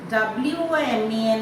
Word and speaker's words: women: W-O-M-E-N is pronounced as women when it is plural. W-O-M-A-N is woman.